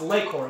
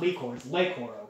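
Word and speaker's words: Le-Koro: because, because if you look at it it's like oh it's "Lay"-Koro it's not "Lee"-Koro but this is even like disputed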